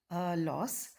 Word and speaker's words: LAUS: You can pronounce it as loss, where L stands for like signs, A stands for add, U stands for unlike signs, and S stands for subtract.